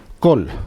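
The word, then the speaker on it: קול: Esto se pronuncia kol, ¿no?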